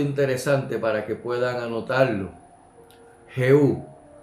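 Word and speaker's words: Jehú: para que puedan anotarlo jeú que se pronuncia en el hebreo yehu porque la J no es parte del abecedario hebreo significa ya es él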